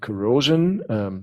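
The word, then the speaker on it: Kuro5hin: itself there are other sites like corrosion that's how you meant to pronounce it or plastic which again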